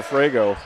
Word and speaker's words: Frego: Number 22 out there, again, Carter Frego. I'm saying it, F-R-E-G-O is the way it looks like it's spelled in front of me.